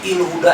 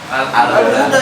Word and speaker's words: al-Huda: Masjid il huda enak apa? Oh, masjid. Masjidnya apa? Al huda di mana-mana enggak ada masjid il huda. Atau masjid ul huda. Ingat dia alif lam pasti bacanya al huda.